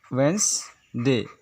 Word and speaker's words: Wednesday: हम लोग अक्सर इसे भी गलत प्रोनाउंस करते हैं, जिससे हम लोग कहते हैं वेनेसडे। इसे लिखा जाता है वेंसडे। इसका ये रियल प्रोनाउंसिएशन है।